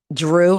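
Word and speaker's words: Jrue: son Nico 21 um Drew I think eight it's spelled j r u e from a previous relationship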